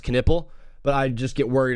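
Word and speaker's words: Knueppel: I know I know kupple is good as well and I and I know it's pronounced kipple but I just get worried about saying that word so much on live so I say kupple.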